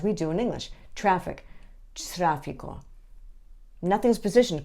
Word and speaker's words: tráfico: The Spanish T is pronounced with your tongue just behind your top teeth. So rather than talent, it's talento. Or rather than traffic, it's tráfico.